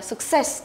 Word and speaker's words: success: Tiếp theo phương án A mình đọc là success đúng không?